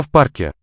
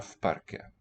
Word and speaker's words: в парке: Я в парке. Yeah, parque. Okay, it's written with a v, that preposition, single consonant, and because Парке. voiceless p follows, it is pronounced as an f here. Я в парке.